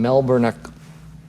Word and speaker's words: Melbourne: from Zena in Melbourne Melbourne Australia okay is it Melbourne Melbourne Melbourne Melbourne I don't really pronounce it Bor I think it's melbour melbour yeah I'm not even